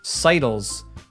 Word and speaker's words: sidles: How do you pronounce it? Sidles.